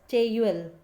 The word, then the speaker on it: Taeyul: It is Korean word and it pronounced as Taeyul.